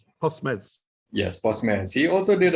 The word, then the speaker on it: Postmes: I don't really know how to pronounce that. Postmes. Postmes. Right. Postmes.